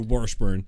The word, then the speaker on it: Washburn: Washburn North Dakota or Washburn wash burn sorry's we discovered earlier it's pronounced wash burn wash burn why do